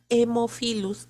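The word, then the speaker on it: Haemophilus: a hemofilus dice no tipo b pero se pronuncia hemofilus tipo b hemofilos influenza tipo b muy bien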